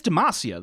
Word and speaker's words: Demacia: It used to be Demacia. Is it Demacia now? Or is he just pronouncing it that way because of an accent thing? It is Demacia, though. Like, that's what Garen has been yelling for the past 14 years.